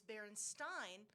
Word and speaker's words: Berenstain: The way it's spelled with the E and I, it's either Steen with the E at the end, behind the I, after the I, or it's Berenstain with the I preceding it's I the before E,